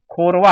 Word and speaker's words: खोरवा: ये खोखा नहीं है, ध्यान दें, खोरवा है ये, है ना। अगर मैं इसको और आपको समझने के लिए लिख दूं तो खोरवा, ये इस तरह का प्रोनाउंसिएशन है इसका, आप खोखा प्रोनाउंस ना करें इसे।